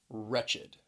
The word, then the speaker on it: wretched: this is an adjective wretched keep in mind this word has two syllables because that e d at the end is the second syllable that id wretched now let's look at